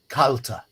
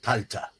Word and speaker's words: Kalte: cold region um and the pronunciation of the German would be CTA be an uh sound at the end CTA I think the German